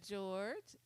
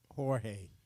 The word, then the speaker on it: Jorge: We got George. Jorge. Jorge, I'm sorry. Jorge. Don't y'all start. Y'all started. Jorge. What you say? You got to say it right.